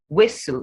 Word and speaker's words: whistle: not listen listen hasten whistle not weasel whistle the s is the the t is silence but the s is not changing to z hustle sashay berry rapport